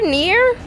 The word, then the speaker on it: NieR: I think it's pronounced as Nier. Near?